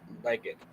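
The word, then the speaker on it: legate: Right, I was saying that the word that you mispronounced is pronounced legged.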